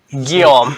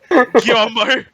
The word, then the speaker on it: Guillaume: Or rather, Guillaume. Guillaume. Guillaume. If you want to piss me off, fine, Guillaume. Guillaumer.